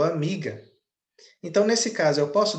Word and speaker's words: amiga: é sílaba tônica não a sílaba tônica é mi Eu não falo amiga eu falo amiga Então nesse caso eu